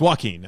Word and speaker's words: Joaquin: It's Joaquin. Actually, you're pronouncing it wrong.